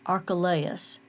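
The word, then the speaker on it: Archelaus: Judea was our archa like us archalayas that's how they said I looked it up to see how to pronounce that archalayas and yet the other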